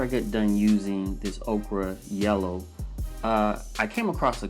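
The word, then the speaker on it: ochre: we use a detail yellow okra I'm a spell it just in case i pronounced it wrong it's OCH r e and this particular yellow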